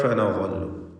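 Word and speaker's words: فنظل: ഫനളു, ഇവിടെ തൻവീനും ശേഷം ഫാഉമാണ്. ഇഖ്ഫാ ഹഖീഖി നൽകി മറച്ചു മണിച്ചു ഉച്ചരിക്കണം. തൻവീനിനെ മണിച്ചുകൊണ്ട് അവ്യക്തമാക്കി ഉച്ചരിക്കുക. ഫനളു, വാഹിന് തഫ്ഖീം കൊടുക്കണം, ഇസ്തിഅലാഇൻ്റെ അക്ഷരമാണ്.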